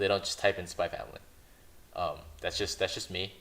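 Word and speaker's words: Spy × Family: Now, currently, I'm going to say Spy X Family, or if for you guys who want to pronounce it correctly, Spy Family.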